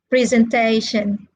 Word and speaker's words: presentation: And then the three syllable verbs are stressed on the first syllable, like educate, allocate, all right? And the four syllable words are stressed on the third syllable.